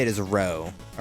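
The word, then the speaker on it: roux: I made the um, it's a riches like row, right? Like X is silent and Uh, or however you spell it.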